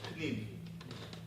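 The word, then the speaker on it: פְּנִים: Pnim. Pnim means your insides. Panim means your outside, your face. Your face, panim, and your pnim are the same word.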